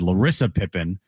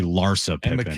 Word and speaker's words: Larsa Pippen: I said it's I said Lissa Pippen and it's actually Larsa Pippen.